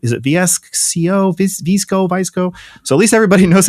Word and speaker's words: VSCO: A lot more people knew how to pronounce us. That's one of the main things. How is it? VSCO, VSCO.